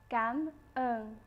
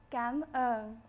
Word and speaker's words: cảm ơn: Thank you in Vietnamese is pronounced cảm ơn. One more time, cảm ơn.